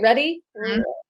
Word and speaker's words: RHETI: someone the rheti ready is that how you say it ready okay um that's how because it's silenced that age so you take the